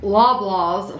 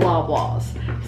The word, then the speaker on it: Loblaws: And they bought those at Loblaw's for $6.99.